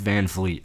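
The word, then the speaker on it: VanVleet: og wow kyle lowry fred van vliet how's that fred van fleet i think that's the first time i've pronounced his name correctly and the fourth overall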